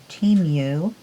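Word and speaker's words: Temu: to look on uh tenu discovered that's the way you say it like team and then you team you and see what kind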